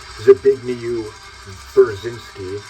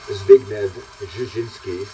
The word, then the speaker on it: Zbigniew Brzezinski: the Carter administration that everyone reads as Zbigniew Brzezinski, the father of Mika Brzezinski, that's actually pronounced something more like Zbigniew Brzezinski.